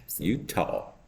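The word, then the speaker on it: Eutaw: it's not spelled yeah it's not spelled like this like the state it's e-u-t-a-w you tall Alabama Alabama my niece would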